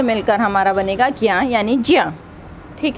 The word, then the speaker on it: ज्ञ: उसके बाद में ज्ञा जिसको वास्तव में उच्चारण जिसका चा और इया से बनता है, जिया, जिसको वास्तविक उच्चारण जिया ही होता है, लेकिन हम लोग उसको ज्ञा पढ़ते हैं, ठीक है।